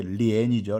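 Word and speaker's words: 莲: 중국 발음은 이제 리엔이죠, 리엔.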